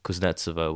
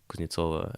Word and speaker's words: Kuznetsova: I mean, it's fair to assume that the stress is always on the wrong syllable because people say Kuznetsova when it's Kuznetsova and so on.